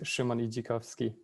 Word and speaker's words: Szymon Idzikowski: think you've done a great uh great job pronouncing it but it's shimoni jakovsky perfect and i also you know severely paraphrased